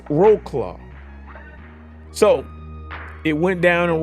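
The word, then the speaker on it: Wrocław: angry at me but from what I've read I got an eighth grade education but it's roll claw so it went down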